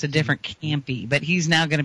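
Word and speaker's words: Campe: He's actually from Alabama, but his last name is spelled C-A-M-P-E, so it's a different Campy.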